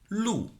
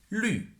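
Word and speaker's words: 绿: For example, in the color green of Chinese, it's not lu. Instead, the correct pronunciation is lu.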